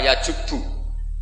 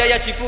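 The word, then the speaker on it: يجب: Itu bacanya bukan yajibu tapi apa? Yajubbu ayaktau. Nah kalau pas ini kamu baca yajibu kan, al-Islamu te Islam yajibu, pusing kamu.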